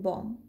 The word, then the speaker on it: bomb: Same like in calm and bomb. Let's see the British and American pronunciation of this word.